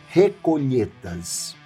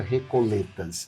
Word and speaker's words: recoletas: é uma religiosa mexicana pertencente à ordem agostinianas recolhetas". Recolhetas, certo? Eu já ouvi a pronúncia recoletas, não é?